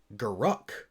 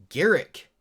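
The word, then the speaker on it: Garruk: conversation that i have i have a friend that that is so so adamant about the fact that it's garuk like i've also heard people garok garrick like it doesn't matter like it really honestly doesn't matter and you shouldn't come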